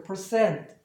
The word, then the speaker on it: percent: 이거는 반모음 발음이니까 라고 발음하시면 되니까 percent, percent.